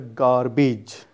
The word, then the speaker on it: garbage: Next word is the garbage, not garbage. It's the garbage.